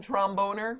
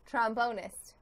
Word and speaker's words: trombonist: inaccurate pronunciation that's all how should i pronounce it trombonist are you sure it's trombonist absolutely a hundred percent Trump owners trombonist please